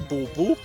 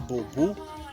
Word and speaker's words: Bobu: bring your attention to how B is pronounced in Xitsonga, because people usually confuse it with V. So I hope you know the difference now. Baby Bobu is pregnant, and how